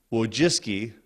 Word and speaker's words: Wojcicki: Brin and his wife and I want to pronounce her last name correctly whoa jiske she went to Yale she didn't just marry